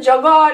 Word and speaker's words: jag är: knows how it's pronounced jogaar and free queen say it you're getting okay so yoga sounds like yogurt and vina i eat